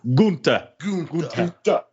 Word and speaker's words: Gunther: Gunther.